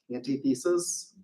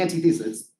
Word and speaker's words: antithesis: motion Mr Aguirre and I'm on Auntie thesis um yeah the anti-thesis that's pronounced antithesis tell me that the